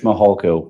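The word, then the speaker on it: Mihalko: court reporter you bet my name is mahalko good morning I'm a commander with the El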